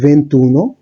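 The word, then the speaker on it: ventuno: তো আপনারা দেখতে পাচ্ছেন, একটু আমরা দেখেছি 21 এর জন্য উচ্চারণটা হচ্ছে ভেন্তুনো, 22 এর ক্ষেত্রে ভেন্তিদুয়ে, 23 এর ক্ষেত্রে ভেন্ট্রিত্রে।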